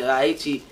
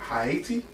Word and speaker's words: Haiti: But the first thing is, you said Haiti? Haiti? Yeah. Haiti? It's Haiti, yeah. Haiti. Why'd you say it like that? That's what the indigenous people called it.